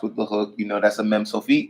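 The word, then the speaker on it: מם סופית: If you see that little box with the hook, that's a Mem Sofit. You still pronounce it like Mem.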